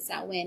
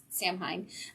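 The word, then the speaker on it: Samhain: goes by Sam because nobody knows that you pronounce it that when and not Sam Hein um and then his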